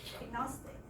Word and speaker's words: agnostic: However, the second one, if there's an A in the beginning, so it does not start at the initial position, it becomes agnostic.